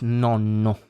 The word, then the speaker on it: nonno: And with the double is nonno. So more emphasis on the double consonant, like pronounce it longer.